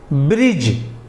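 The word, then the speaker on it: bridge: पर D lent होगा किसी भी इंग्लिश वर्ड में जी से पहले अगर डी आता है तो वह डी साइलेंट होगा वह खामोश होगा वह पढ़ा नहीं जाएगा वो उच्चारित नहीं किया जाएगा उदाहरण के लिए ब्रिज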